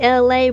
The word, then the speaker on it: Elay: Hey, it's me, LA, pronounced like LA like the city.